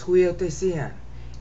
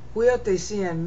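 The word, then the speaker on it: υἱοθεσίαν: Okay, huiotesian means both airship and sonship. And because of the extra syllables, I was able to bring that meaning out. See, airship, sonship. See, it's huiotesian, there's four syllables.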